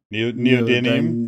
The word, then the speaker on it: neodymium: know how do you say that again yeah neodymium neodymium that that's the thing that i don't